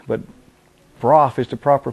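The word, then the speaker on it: Brough Superior: of people mispronounce it too they call it brogue but broth is the proper pronunciation this is also the bike that law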